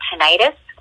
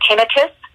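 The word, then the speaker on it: tinnitus: this you also get tentis or tenius some people pronounce it differently which is ringing in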